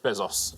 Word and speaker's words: Bezos: Uh yeah, Jeff Bezos uh is how you would pronounce it, but uh yeah, he's the richest man on the list.